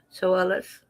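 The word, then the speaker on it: Tsoulos: Christopher John Solis. The T is silent. They said you pronounce it like so then o hs so so.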